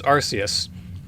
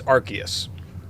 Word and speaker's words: Arceus: Nobody is quite sure how to pronounce this word, so I'm calling, we're gonna say it's Arceus.